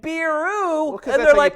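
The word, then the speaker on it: ビール: to like do the and then you say beero I get it this is how they pronounce it but it's like it's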